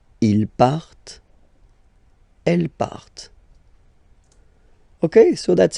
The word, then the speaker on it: partent: Okay, and the last persons, il, elle, partent. Remember, classic ending, ENT, but then you don't pronounce them, partent. Partent.